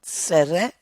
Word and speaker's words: tsere: And this is called tsere. Tsere. And the sere is as as in they.